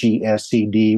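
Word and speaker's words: חסד: You'll see it spelled Chesed, but it's maybe like Hesed with the clear your throat sound.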